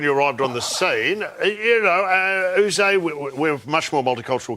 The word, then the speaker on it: Yze: Is it Yze? Yze, I think it is. We were a tolerant nation. What's the most ridiculous pronunciation of your name that you've ever heard in all your years? We copped a few, like and and whatever. But? Just spelling it out phonetically.